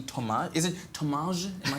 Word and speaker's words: Thomaz: Is it Thomaz? Am I saying it right? Thomaz, because it's got a Z at the end there.